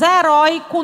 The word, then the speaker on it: heroico: observem a palavra herói herói tem acento mas heroico não tem por que que heroico não tem porque é parox aí vai cair na regra anterior eu digo Erico o RI tem o de tongi é paroxítona e heroi é oxítona por isso que tem